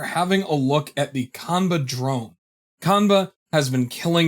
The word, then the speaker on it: Qanba: Okay, how do you say this now? Qanba.